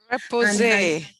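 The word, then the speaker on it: repoussé: a clue what is meant by chasing and repousse. Is that how you say it? Repose.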